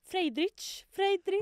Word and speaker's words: Friedrich: That’s how it was, there was this scene -when she and this Friedrich… -That’s how you say it. Friedrich. -Friedrich.